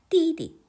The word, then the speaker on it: 弟弟: 띠리 남동생 아우 하는데 단어가 똑같은 글자가 두 개 연속이 되었을 때 뒤에 발음은 보통 경성으로 읽어요. 같이 띠 읽는 게 아니라 띠디 이렇게 읽는 게 맞습니다.